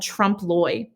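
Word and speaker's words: trompe-l'œil: we do have is this painting technique called trump loy and that's how you pronounce this trump loy and trump lloyd painting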